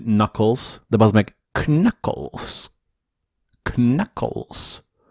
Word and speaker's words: Knuckles: his big buddy, Knuckles KKnuckles *Brain damage* Its so much funnier to say KKnuckles i donno.. i know its pronounced as "Nuckles" but ffs KKnuckless *More